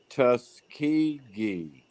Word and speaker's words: Tuskegee: think so david put tuskegee yes that's it that's how you say it i like my version